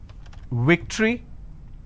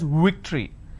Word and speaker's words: victory: the word which is victory they pronounce this as victory now remember what i said if you have the letter v you need to bite your lower lip it's victory and if